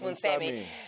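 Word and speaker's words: Moonsamy: Yes, Munsami.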